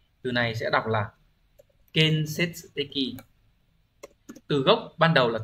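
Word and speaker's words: 建設的: Từ này sẽ đọc là Kensetsuteki.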